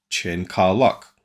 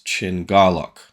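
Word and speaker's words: Chin Kar-lok: me as read is Chen car lock um but it's chin Garlock um so the the car becomes gar at least in the way they're pronouncing it if that's right see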